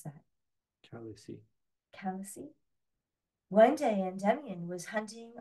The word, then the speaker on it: Calyce: son of the god Zeus and the nymph Calyx. How do you pronounce that? Calyce.